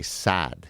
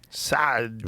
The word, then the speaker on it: Saad: Okay, so for example, my last name, all Americans will say Saad. You just extend the A. But the proper way to say it's Gad Saad. Saad.